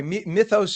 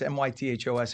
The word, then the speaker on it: Mythos: So basically if you have any kind of a program and by the way Mytho's is the Greek pronunciation and it's m y t h o s and it's a Greek word so Mytho's that's the way I I pronounce it.